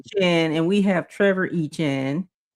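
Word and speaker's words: Etienne: You got well, that's not how to say it. It's called E-Chain or something like that. We say Travis E-Chain. Echan, and we have Trevor Echan.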